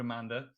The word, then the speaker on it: Amanda: And actually, it was given to me by someone called Amanda. It rhymes with banana.